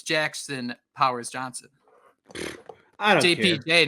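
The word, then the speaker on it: Powers-Johnson: can remember that for sure so it is Powers Johnson correct Jake that is the correct way to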